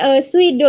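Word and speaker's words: 水道: Bacanya suido. Nah, kalau di sini nerjemahinya waterworks ya. Tapi suido itu nanti kan.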